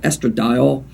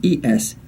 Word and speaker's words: estradiol: you also want to look at something called estradiol in females after menopause it's spelled e-s-t-r-a-d-i-o-l okay so females after menopause estradiol you want